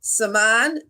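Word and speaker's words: זמן: Number 4, Zaman. And I know how to say this one correctly, so I'm going to spell it. Cheirutenu. Again, Zaman, Z-M-A-N, Cheirutenu.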